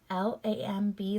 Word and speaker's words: lamb: for this next word l-a-m-b lamb that b is silent n-u-m-b-c that silent letter